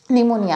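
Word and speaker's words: pneumonia: पी का आलेला आहे पी आहे तो पण सायलेंट आहे तो आपण वाचत नाही तर असे खूप सारे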